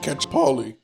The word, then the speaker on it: Calciopoli: Calciopoli.